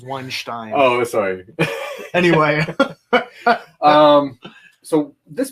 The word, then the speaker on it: Weinstein: The correct pronunciation is Weinstein.